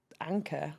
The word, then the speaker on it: ANQR: And then my husband actually said, Anchor, but why don't you spell it a bit more, you know, sort of quirky, and came up with ANQR.